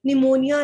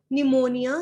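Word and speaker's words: pneumonia: पूरो फिर पीप और निमोनिया निमोनिया में पी साइलेंट होता है लिफ्ट लाइक प्रोफ और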